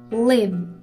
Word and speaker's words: live: حواستون باشه که live به معنی زندگی کردن یک کوتاه داره، ولی leave رو باید بکشید. اگر این دوتا اشتباه تلفظ بکنید ممکنه به کلی معنای جملتون عوض بشه.